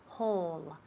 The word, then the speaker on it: whole: Whole. Esa W muda.